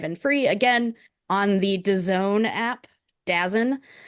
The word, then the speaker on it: DAZN: free again on the DAZN app. DAZN. It's all free. DAZN. And you say it like DAZN. DAZN. Worst name.